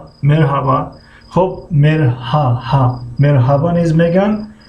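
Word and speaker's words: merhaba: خب یونیت 1 مرحبا. خب مرحبا نیز میگن و در بین لهجوی مرحبا هم استفاده میکنن. مرحبا هر تلفظ نمیکنن. یعنی هر نمایان نیست.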